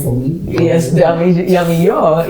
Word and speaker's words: Damijo: Yes, Damijo. It's the Spanish. The J is silent.